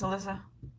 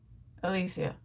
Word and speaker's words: Alicia: Does that make sense, Alyssa? Alicia? Is it Alicia or Alyssa? Oh my God. Alicia. Oh my God, I've been totally reading your name wrong.